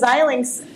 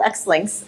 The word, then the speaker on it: Xilinx: Fairly technical household because zyl links sometimes called xlinks uh but we help people understand how to pronounce it um isn't necessarily a